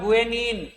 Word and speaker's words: guanine: लेकिन गुआनिन का स्पेलिंग गलत लिखा हुआ है, GUANINE होता है गुएनिन।